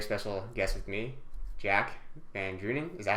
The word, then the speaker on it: VanDrunen: Today, I have a very special guest with me, Jack VanDrunen. Is that how you pronounce your last name?